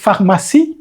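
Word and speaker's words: pharmacie: আছে এটা হচ্ছে ফাহমা উচ্চারণের সময় পিএইচ এর উচ্চারণটা সঠিকভাবে করতে হবে ফ বড় হাতের ফাহমা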